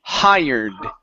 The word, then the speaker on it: hired: word right here um pronounce the d at the end of the word the word is hired H okay now a trick a trick that you can do because it's difficult for Spanish speakers to pronounce a d at the end of a word okay uh remove the